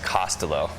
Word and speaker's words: Costolo: forward for Twitter but Dick's last name is pronounced costelo so I've seen so many pronunciations of it